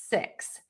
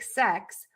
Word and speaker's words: six: And the word six is going to have a more closed mouth.